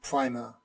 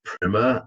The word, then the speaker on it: Primer: And yeah, the film is pronounced Primer and not Primer. So Primer is in like a first lesson on something. I guess we can call it Primer if you want, but the word in the English language is Primer. This doesn't need to be in the episode. I just wanted to tell you so it's pronounced Primer, not Primer.